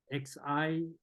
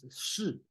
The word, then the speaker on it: 是: Okay, so there's many ways to talk about this one, but it's not XI, it's not Qi, it's 是. Okay, pronounced as 是.